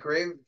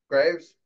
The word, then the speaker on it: Greaves: at their prospects um jet geves Graves Greaves I think it's pronounced Greaves um it's been a